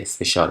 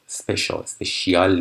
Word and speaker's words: special: با پختن نونای ویژه، اسپشال هستش. این هم تلفظش اسپشیال نیستش.